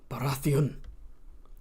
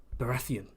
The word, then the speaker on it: Baratheon: So if you're English, you say Baratheon. If you're George, Baratheon. Imagine creating a name like Baratheon, a name so badass, and you're like, let's put the emphasis on the second part.